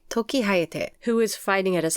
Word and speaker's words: Tokihayate: I say it Tokihayate. Tokihayate.